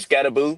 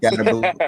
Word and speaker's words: Skattebo: about Skattebo? Skattebo. Okay, cool. Skattebo. All right. So how it look? Uh, yeah, man. I mean, listen, Cam Skattebo.